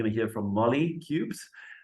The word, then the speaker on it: Kubes: to hear from Molly cubes just like ice cubes so if you wonder